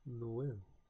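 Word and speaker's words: Noël: This accent indicates that the two vowels are pronounced separately, each having its own distinct sound. Eiti, and Noel.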